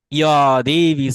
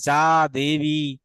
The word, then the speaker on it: যা দেবী: ঠিক আছে, ইয়া দেবী সর্বভূতেষু, সর্ব, সর্ব, সর্ব বলবো না, বাংলা আমরা উচ্চারণ করতাম যা দেবী, যা দেবী সর্বে, ঠিক আছে, সর্ব, এভাবে আমরা উচ্চারণ করতাম।